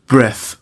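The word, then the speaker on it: breath: اضافه بشه کنت نمی‌تونم بریث نفس کشیدن دقت کنید بریث د تا تلفظ داره اگر اسم باشه فعل نباشه یعنی به معنای نفس باشه برث تلفظ میشه اما وقتی میخوام بگم نفس کشیدن وقتی که فعله باید بریف تلفظ بشه بچه‌ها B نمیتونم نفس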